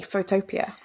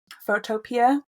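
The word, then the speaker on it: Photopea: same as Photoshop and it's photo and then Pia photopia that's how I pronounce it I think it's p p EA P EA photopia I don't know I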